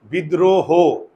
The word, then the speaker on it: বিদ্রোহ: আর এখানে কেন ওকার হইল, কারণ আমরা এটাকে উচ্চারণ করি কি, বিদ্রোহ, হো, আমরা কি উচ্চারণ করি, হো। তাহলে আমরা কি হ বলি, বিদ্রোহ, আমরা বলি হো।